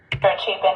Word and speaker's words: Chapin: Chapin, yeah, he was... That all happened and the See, at least she pronounced Chapin right, you know?